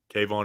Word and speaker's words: Kayvon: but no actually no Kayvon is just cave on Kevin's kavon's a first name guy true two syllables is cave on we don't need to